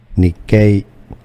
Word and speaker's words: Nikkei: If you want to learn more confusing names for the name of an index, Japanese pronunciation Nikkei.